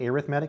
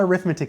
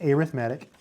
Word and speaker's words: arithmetic: It's pronounced arithmetic because it's an adjective, so geometric. It's not arithmetic sequences, it's arithmetic.